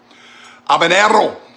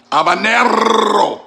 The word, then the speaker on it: habanero: habaneros habaneros in spanish i like to say habanero not pronounced h you know abanero habanero now you don't roll